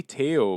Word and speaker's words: Theo: Here's the thing: you say Teo, but like it's spelled Theo. Yeah. Yeah, which is what I was calling him. It's French.